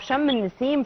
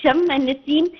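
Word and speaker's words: شم النسيم: Is it the fact that we took the name of Shem al-Nessim from Shemu, or how the old Egyptian pronounced or named the day?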